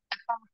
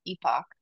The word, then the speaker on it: epoch: the iterations in an epic epic epic right am I saying that right I'm not saying like in weird okay sometimes I get hung up on the pronunciation on some of these words and oh I was gonna say I think that's heard Epoch and Epoch yeah so I guess either one tomato tomato there was